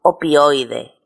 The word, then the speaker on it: opioide: Por ejemplo, opioide. El conjunto opioide se pronuncia en una sola sílaba.